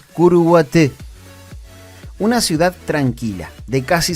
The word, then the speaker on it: Curuguaty: La forma correcta de pronunciarlo, tal cual lo hacen los paraguayos, es Curuguaté.